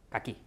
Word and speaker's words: caqui: Então quando vocês forem comprar a fruta, não comprem caqui, comprem caqui, tá bem?